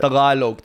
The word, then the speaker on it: Tagalog: Tagalog.